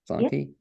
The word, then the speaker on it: Zelonky: And to that end, it's my pleasure to introduce Zelonky, am I pronouncing it correctly? Yep. Zelonky, who's the education director at Asheville Community Theater.